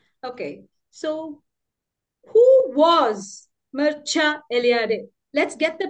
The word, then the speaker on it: Mircea Eliade: and modern myths okay so who was was Mera elad let's get the pronunciation right he was a Romanian historian religious historian a mythographer a Critic a fiction writer we pronounced his name as Mera elad Mera elad this is how we pronounce his name now